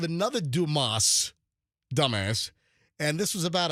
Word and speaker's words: Dumas: Is this the dumbass residence? This is the Dumis residence. It's not dumb ass. D U M A-S is pronounced It's a French name and it's pronounced Duma.